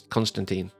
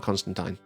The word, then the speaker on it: Constantine: It's Constantine, not Constantine. I do not agree with that pronunciation.